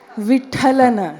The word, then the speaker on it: Vithalana: For example, Purandara Vitalana, Purandara Vitalana, Purandara Vitalana. So what could be changed in this? Vithalana. So Purandara Vithalana. It doesn't take too much effort to bring that Mahaprana syllable to the fore.